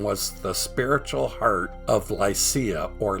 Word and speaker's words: Lycia: It was administered by Xanthos and was the spiritual heart of Lycia, or Lycia, the Turkish pronunciation, and the place of national festivals.